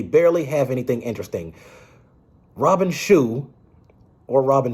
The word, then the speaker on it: Shou: Robin Shu, or Robin Shao, I think his name is pronounced Shu, did return as Liu Kang, but his performance here is more soulless.